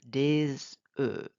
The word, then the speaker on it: des œufs: Un œuf, but plural, you do not pronounce the F. Des œufs.